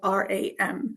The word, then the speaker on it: ram: It's om ram like r u m but it's spelled r a m.